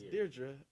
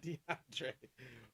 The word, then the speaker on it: Deirdre: See, if I would have read it ahead, I would have knew it was a girl's name, and I'd be like, "That's Deirdre, not DeAndre."